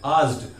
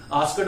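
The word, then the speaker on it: asked: वो बाद में समझेंगे सेकेंड फॉर्म ईडी कैसे लगता है, लेकिन प्रोनाउंसिएशन की बात करें तो आस्क से आज ड हो जाएगा, आस्ड, आस्कड नहीं होगा।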